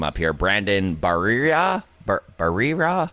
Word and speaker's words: Barrera: And I know that the Blue Jays wound up taking, and I might mess his name up here, Brandon Barrera? Barrera? I believe it's pronounced Barriera.